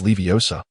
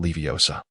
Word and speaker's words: Leviosa: Wingardium Leviosa. Note the correct annunciation. It is Leviosa, not Leviosa.